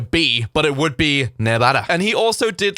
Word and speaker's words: Nevada: rant about nevada and how it should be pronounced nevada because it's spanish spanish look i don't know what mexican spanish is but castellian spanish european spanish original spanish it would be nevada the v almost sounded like a bee but it